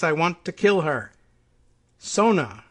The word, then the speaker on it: Sona: Sona, that's S-O-N-A, no punctuation that lets me think it's pronounced otherwise.